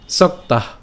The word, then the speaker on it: সক্তাঃ: সক্তাহ, ঠিক আছে, সক্তাহ। এখানে খেয়াল করুন যে যুক্ত বর্ণটি রয়েছে, একে যদি আমরা ভাঙাই তাহলে আমরা উচ্চারণটা করলে পাই সক তয় আকার এবং হচ্ছে বিসর্গ সক্তাহ সক্তাহ।